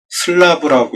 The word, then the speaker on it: slab: 스라브는 슬래브라고 쓰고, 슬라브라고 읽습니다.